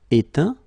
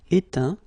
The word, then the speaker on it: éteint: Éteindre, éteint. Feindre, feint. Peindre, peint. Teindre, teint. Okay, as usual, final T not pronounced. Atteint, éteint, feint, peint, teint.